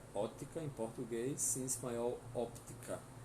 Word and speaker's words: óptica: Ótica em português, em espanhol óptica. E o som do P não é mudo, tá? Óptica. Lembrando que o O é fechado apesar do acento.